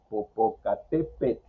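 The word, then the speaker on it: Popocatépetl: Pero cuando es una vocal más TL, definitivamente si hay dificultades para su pronunciación.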